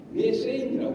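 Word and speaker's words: methane: 에탄이라는 말이 많이 나오는데 우리는 학교 다닐 때 화학 시간에 메탄하고 에탄이라고 이렇게 지금도 발음하고 있고 그런데 제가 옛날에 한 20년 전에 외국 사람하고 만나서 이야기를 할 때 이 사람이 메세인이라고 하는 거예요.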